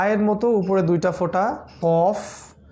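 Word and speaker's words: ق: মত উপরে দুইটা ফোঁটা কফ আলজিবের গোড়া থেকে উচ্চারণ করতে হয় কফ কফ জবর ক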